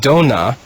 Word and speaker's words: dona: in the green row is it has two syllables the word dona means gifts the last word in the green